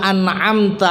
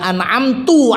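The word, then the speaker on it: أنعمت: Jadi umpamanya siratal ladzina an'amta alaihim, kita bacanya siratal ladzina an'amtu alaihim, jelas salah nih. Ya, an'amta diwaca an'amtu.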